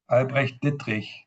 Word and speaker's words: Albrecht Dittrich: and interestingly enough, I'm going to now pronounce my German name, Albrecht Dittrich.